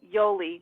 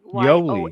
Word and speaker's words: Yolie: Yeah, it's actually Yolie, Yolie. Yolie.